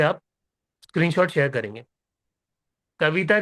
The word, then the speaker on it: Kav: Paid sir, KAV, काव, right?